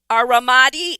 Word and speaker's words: Ramadi: So you enlisted in the Army, going on to serve at Ramadi, Iraq. Please pronounce that correctly for me.